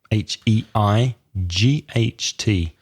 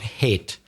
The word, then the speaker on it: height: the D so WI D th high height H e I ght careful with the pronunciation not hit it is audio height is al-tohra I hate